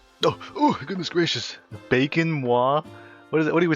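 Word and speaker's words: moi: Pronounce mwa if you insist. Askai. Uh, the way you pronounce mwa, it's kind of like blowing a kiss like a mwah.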